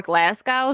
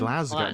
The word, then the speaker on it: Glasgow: made something kid for Glasgow so is this in Scotland glasow do you mean glasgo oh yeah Glasgow sorry Glasgow be over there